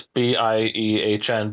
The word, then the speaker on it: Biehn: It's b i e h n, but it is pronounced Biehn.